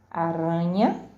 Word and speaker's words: aranha: Aranha, aranha tem o som fraco, por isso nós lemos aranha. E arranha tem o som forte, arranha.